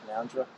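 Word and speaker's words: Canowindra: Western New South Wales it's actually spelled Kenna when but they pronounced conundrum there's an amazing fish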